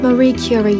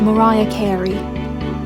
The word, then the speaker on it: Marie Curie: And how could one teenage boy know so much about World War II, but think that Marie Curie is pronounced Mariah Carey?